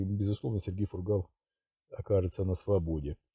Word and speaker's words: Фургал: по делу по делу фургала один из моих подписчиков написал 23 года один из моих подписчиков написал что правильно делать ударение на последний слог фамилии фургал я исправляюсь сразу извиняюсь